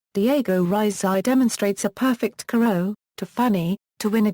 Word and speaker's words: carreau: Video, Marco Foyet demonstrates the high lob, carreau, pronounced carreau.